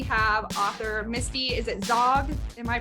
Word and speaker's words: Zaugg: and today we have author Misty is it Zog am I pronouncing up yes perfect okay Misty zombies she